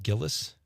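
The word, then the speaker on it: Gilles: Is it Gillis? Gillies.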